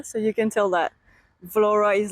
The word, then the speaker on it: Vlorë: Well, Danny told me that I have been mispronouncing Vlora. The whole start of this video I was saying Vlore, but I know now that we say Vlora.